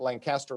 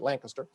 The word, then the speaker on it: Lancaster: I keep pronouncing you like the city in Pennsylvania that my son went to college in, not Lancaster, but Lancaster.